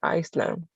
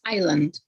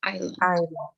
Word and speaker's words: island: left on a desert iceland it's island we don't pronounce the s just island okay i would try